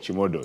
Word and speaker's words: Chimodho: Chimodho, yes.